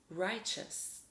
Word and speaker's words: righteous: TEOUS in this word makes a chus sound, unlike the previous words. This word is pronounced righteous.